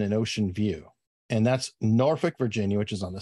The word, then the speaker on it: Norfolk: And that's Norfolk, Virginia, which is on the south side. Good pronunciation, by the way.